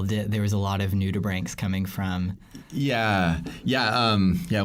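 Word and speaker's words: nudibranch: who wouldn't know yes a new tube rank that's how I pronounce it some you may have heard it new to branch but brank being like your brain kia your lungs so their gills and new tea just an ood so it's naked gill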